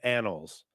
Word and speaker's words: annals: I think you pronounced annals wrong. It's annals. Annals. Anals.